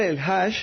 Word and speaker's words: El-Hage: mi apellido es musulmán el aje significa El peregrino O sea tú le el el aje es digamos tropicalizado latinizado ap Pero cómo realmente se debería de pronunciar se debería pronunciar el Hash y es un es